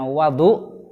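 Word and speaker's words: وَضوء: Wudu itu bisa dibaca fathah wawunya, bisa dibaca dhammah wawunya. Nah, kalau dibaca fathah berarti bacanya wadu, maka itu artinya ismun lil ma'i.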